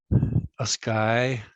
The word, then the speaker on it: ASCII: So an AS and then key. But you know, it's an acronym, so it's ASCII, a sky.